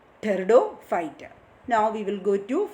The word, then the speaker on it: Pteridophyta: Pteridophyta, here P is silent, pronunciation Pteridophyte.